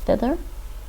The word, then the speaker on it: thither: problems saying things like thither. Thither. So the first TH in thither is unvoiced, the second one is voiced.